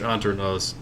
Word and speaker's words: Hanternoz: antique so under knows you probably don't pronounce the h too much anternos is uh band has